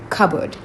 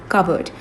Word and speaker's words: cupboard: in this session is cupboard. Cupboard. You pronounce you don't pronounce this P over here. You simply say it cupboard. Cupboard. Okay. Not cupboard. No cupboard.